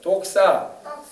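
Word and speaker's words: δόξα: 영광, 헬라어로는 독사라고 해요. 독사. 아유, 독사라고 하니까 뭐 독 있는 뱀이다 막 이렇게 생각하는데 그게 아니라 발음적으로 독사라고 해요.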